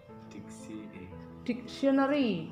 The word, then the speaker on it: dictionary: Tapi ionnya seolah-olah tidak terbaca jadi dictionary.